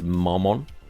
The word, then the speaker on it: Marmont: marmond you know what it's probably not got the T pronounced at the end of it because French words generally don't so I think it's Mom on without the tea being pronounced he trained as an